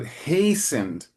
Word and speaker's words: hastened: And remember, in many English words, the emphasis is at the beginning. And so the first was up in the first line. So hastened Lot.